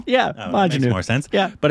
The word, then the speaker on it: Majnu: it's called Mission Manju. Manjunu? Mission Majnu. How do you say that? Majnu. Yeah, Majnu.